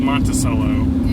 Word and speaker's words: Monticello: of Monticello it's ever that's called the Monticello that's how you pronounce it all right we're